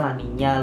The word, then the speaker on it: La Niña: Tulisannya sih La Nina, tapi bacanya La Niña lur.